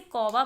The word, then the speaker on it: कौवा: अगर व आए तो औ की मात्रा का उच्चारण हो जाता है औ और शब्द बना क अवा कौवा तो पढ़ते हैं आगे